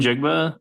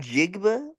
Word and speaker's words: Njigba: half of the Season how do you say his name Jackson Smith njigba in jiga yeah sounds like like Ninjago or something it does a